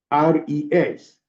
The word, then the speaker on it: Guterres: Guterres, Gutters. Because with that name, I think it's a French name, then you do not pronounce that S.